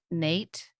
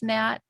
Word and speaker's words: Nat: Were there other people besides Nate? Is it Nate or Nat? I think it's Nat, but you would Nat. know like N-A-T. Like how do you pronounce it? Yes. And Nat, like a Nat. bat.